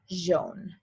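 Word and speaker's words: jaune: jean so in french whenever you see a j it isn't going to be like j like it is in english it's going to be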